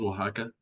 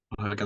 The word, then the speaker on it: Oaxaca: Yeah, I'm from Oaxaca. That's how it's pronounced, Oaxaca, Oaxaca, Mexico.